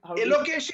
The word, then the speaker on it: Elokeshi: This is a letter that do I pronounce it Elokeshi, or how do you Elokeshi is absolutely right. Perfect. On the dot.